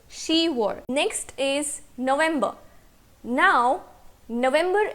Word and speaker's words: 시월: Because it is difficult to pronounce 십월, pyup is removed from ship and we are left with she. Okay, so October is 시월.